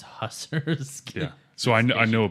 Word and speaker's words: Hussar: You're saying it right. I think it's Hussar. For some reason, Yeah. I had always read it as Hussars.